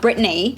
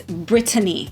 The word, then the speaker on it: Britany: say her name is not Britany it's not Britney it's Britany okay so I'm going to put some respect